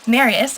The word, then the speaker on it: Marius: Marius, I know I said that right because in the movie they said Marius or Marius.